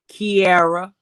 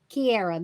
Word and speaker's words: Kierra: Kierra. Kierra. That's what I Kierra.